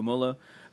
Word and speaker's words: Moeller: I threw like a little bit of German flair on it. There's no umlaut, so it should just be Moeller.